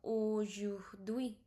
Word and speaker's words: aujourd'hui: Dui, because H we don't pronounce in French. This I have told you in the previous lecture. H we don't pronounce in French. So H is basically silent. Okay, so H is nothing but silent in French. So what does it become? It become aujourd'hui.